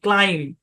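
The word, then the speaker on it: climb: ইউ এম বি থাম সি এল আই এম বি ক্লাইম পি এল ইউ এম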